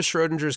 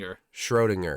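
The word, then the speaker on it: Schrödinger: Oh, that's the Schrodinger's cat? Is it Schrod? How do you say it? Schrodinger.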